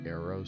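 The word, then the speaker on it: Airose: to be my future spitfire i named her arrows say a-i-r-o-s-e which i guess if you like for those who may pronounce it a different way they may they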